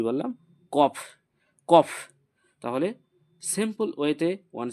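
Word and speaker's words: ق: দুটো ফোটা আছে বা নুক্তা আছে এটাকে বলব কফ কি বললাম কফ কফ তাহলে সিম্পল ওয়েতে ওয়ান সেকেন্ড ওয়ান্স এগেন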